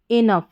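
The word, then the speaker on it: enough: Last में ओ यू जी एच है। ओ यू जी एच को पढ़ दिया फ। तो यह क्या बनेगा? ई को ई और एन को न। इनफ क्या हो गया?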